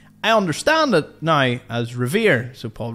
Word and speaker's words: Revere: famed Patriot Paul Riv I did call it ravy for quite a while and now I'm wondering